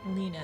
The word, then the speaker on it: Lena: Ah, Lena is how you say her name.